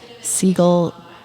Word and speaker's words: Segall: It's Segall, sounds like the bird, but it's spelled Segall.